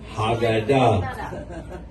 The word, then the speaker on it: Haggadah: And Call it a Haggadah, or how do you say it in Hebrew? Haggadah.